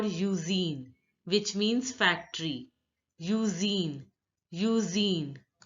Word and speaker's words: usine: Usine. Now here, the INE is pronounced as een, een, een, and the U is pronounced as English alphabet U. So it is pronounced as usine.